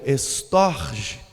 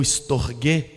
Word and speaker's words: storge: Para o grego existe também um outro tipo de amor, que é o estorge, ou estorgue, depende da pronúncia, que é um amor com laço familiar.